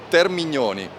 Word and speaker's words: Termini: the most important thing how did you pronounce the full name ter Termini correct is Termini yes ter not teroni or teroni is the correct one so we managed to